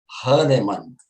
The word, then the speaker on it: Hahnemann: Eu falei, Marcelo, como é que se pronuncia isso aí? Diz aí. Hahnemann.